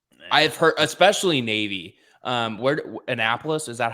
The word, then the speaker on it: Annapolis: Where Annapolis, is that how it's pronounced?